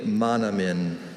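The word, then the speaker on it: manoomin: Are there any alternate pronunciations? There's only monomin.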